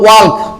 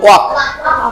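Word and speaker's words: walk: এটা যদি আমরা এল দিয়ে উচ্চারণ করি তাহলে হবে ওয়াল্ক। কি হয়ে যাবে? ওয়াল্ক। না, ওয়াল্ক বলবো না, আমরা এল বাদ দেব, তাহলে হবে ওয়াক।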